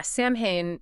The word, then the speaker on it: Samhain: Samhain. You got it. Yeah, Samhain, it was a big deal for the ancient Celts, and it was celebrated right around October 31st.